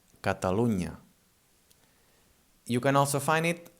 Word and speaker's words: Catalunya: Whenever you find an N and a Y together, this is the ñ sound. For example, in Catalunya. Catalonia in Catalan is called Catalunya, and this unya thing, so it's the NY. It's written together and it sounds like this, Catalunya.